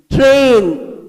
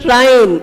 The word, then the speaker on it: train: Train. It's not train, it is train.